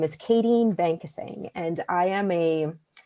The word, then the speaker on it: Bankasingh: When it arises So for our Conflict Resolution workshop tonight, we have Bankasingh... Is it pronounced Bankasingh? your last name? : Bankasingh Thank you so much.